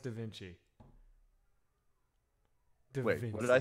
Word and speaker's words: Da Vinci: You have the most funny, you know, it's pronounced Da Vinci. What did I say? God, what did I say? He said Da Vinci. That wasn't on purpose. That one you said it twice. Dincy.